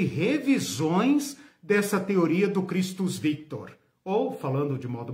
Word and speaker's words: Christus: Christus, C-H-R-I, né, como em inglês. Christus, né, final latino, né? Christus, tá? C-H-R, tá? Como se fala em inglês, mas com o final latino, Christus Victor, que significa Cristo vencedor.